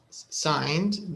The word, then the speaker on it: signed: party he said night signed her the g is silent okay copies of his